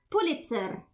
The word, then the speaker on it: Pulitzer: Pulitzer. Pulitza. Man, sounds weird. You're saying it well, but pronounce the e with uh with a bit longer than and a stronger R. Pulitzer.